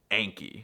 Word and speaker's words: Anki: Just remember that it's pronounced Anki.